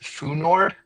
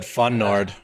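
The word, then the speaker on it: fnord: So, we want to replace tick token with and I'm seeing Brian it's pronounced foord from principa Discordia. Oh, here I said funord.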